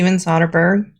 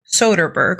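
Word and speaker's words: Soderbergh: in this business this is her okay see soberg I need to figure out how to pronounce his name Soderberg okay I was right I was right the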